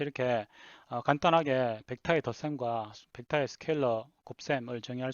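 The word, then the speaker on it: scalar: 그 다음에 벡터는 스케일러를 곱할 수가 있습니다. 실수값을 곱할 수가 있는데요. 이 값을 스케일러 벡터 멀티플리케이션이라고 합니다. 스케일러는 스케일러라고 적고요. 한국말로는 스칼라라고 흔히 번역이 되는데 원래는 스케일러라고 읽어야 됩니다.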